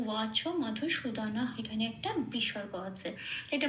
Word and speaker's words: মধুসূদন: আচ্ছা, এখানে বলে দিই দন, কোথাও কিন্তু হসন্ত নেই সেই জন্য দন কখনোই উচ্চারণ করতে পারবো না, মধুসূদন। যেহেতু হসন্ত নেই কোনো অক্ষরের নিচে, প্রত্যেকটা অক্ষর পূর্ণ অক্ষর রূপে উচ্চারিত করতে হবে, মধুসূদন এইভাবে বলতে হবে।